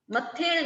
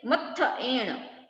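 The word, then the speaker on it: मत्थएण: फिर मत्थ एण वंदामी, मत्थेण नहीं मत्थ एण, मत्थ एण वंदामी।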